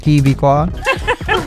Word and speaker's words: Kviku: Paano ba i-pronounce yung Kviku? K. First letter K. Kviku.